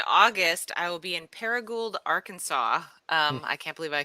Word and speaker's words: Paragould: I will be in Paragould, Arkansas. I can't believe I could say it correctly. I'm making an appearance at the Paragould.